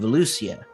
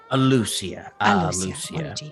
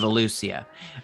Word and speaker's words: Alussia: to the city of ellucia lucia sorry no it's the beak sometimes i lose some syllables um yes the city of ellucia uh it's uh i